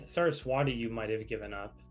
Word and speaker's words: Saraswati: So you got Next Design, Replicating Perfection, Sync, Builder of Nations, and how do you pronounce that one? Saraswati. Saraswati.